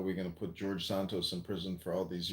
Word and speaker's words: Santos: No, but but Sarrentos, is that how you say his name? Santos.